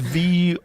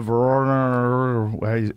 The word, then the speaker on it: Voronezh: It's Voronezh.